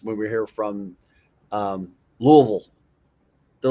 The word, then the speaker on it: Louisville: we were here from Louisville. They're like, they said it weird. Like it's not I thought it was Louisville. It is Louisville. But if you're from Louisville, they pronounce it Louisville.